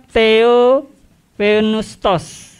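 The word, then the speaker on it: θεόπνευστος: Theopneustos. Ya. Saya breakdown ya. Theo itu adalah Tuhan. Misalkan dengar kata-kata teologi ya. Jadi ilmu yang mempelajari tentang ketuhanan. Lalu ada bagian kedua yaitu pneustos.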